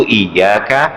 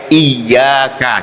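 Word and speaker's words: إياك: Dan ini dibacanya harus pakai tasdid ya. Iyyaka, jangan iyyaka, jangan salah itu.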